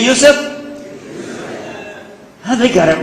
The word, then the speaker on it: Yusuf: Can you say Yusuf? Oh, they got it right the very first time. MashaAllah, my wife still pronounces it useless.